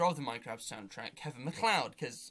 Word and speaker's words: MacLeod: and the creator of the minecraft soundtrack kevin macleod because mclead how it's pronounced everyone uses him uh lena rayne who's